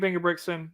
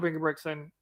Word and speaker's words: Ingebrigtsen: minute miler in history jacob banker brickson jonker bingo brixton he goes by both see that one i